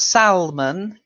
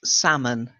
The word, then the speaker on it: salmon: and that's salmon salmon it's a silent L so it's not Salman it's salmon like salmon okay okay okay right